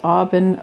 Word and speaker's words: Aubin: It is Aubin like Robin without the R or other places, okay?